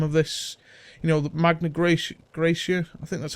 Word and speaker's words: Magna Graecia: collect the bottom of this, you know, the Magna Graecia, I think that's how you pronounce it. Yeah, Magna Graecia.